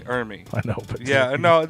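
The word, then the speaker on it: Ermey: Yeah, well, it's I always thought because I always thought you were saying his name wrong. You said it so much. it's R. Lee Ermy.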